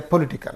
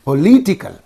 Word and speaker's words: political: So don't say political. But here you see ikal is in these 2 syllables. Okay. What is the syllable preceding the suffix means? This only. So there you have to say political. See, when you say political scenario, don't say political, flatly you are saying this word. Political, flat. But you say political. How nice it is looking. How nice it is sounding.